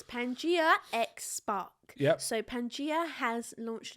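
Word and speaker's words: Pangaia: a collection it's Pangia is that how you pronounce it Pang or panga some people say panga well they just don't know how to speak it's Pangia xpark so Pangia has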